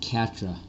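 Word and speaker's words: Quatre: gonna call over Ellie their name is pronounced Katra Katra so I play the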